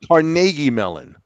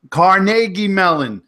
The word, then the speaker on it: Carnegie Mellon: You have to pronounce it's Carnegie Mellon. Carnegie Mellon.